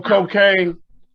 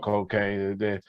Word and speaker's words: Kokane: the ghetto or you call cocaine no but we turn it around and spell it k-o-k-a-n-e that means when you hear cocaine funk you are going to get hooked but